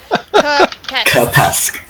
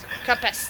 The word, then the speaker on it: Kapesk: Kapesk. Kapesk. It's like pest with a K.